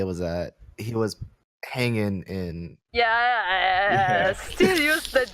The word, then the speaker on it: Hangin: We haven't seen Hangin play.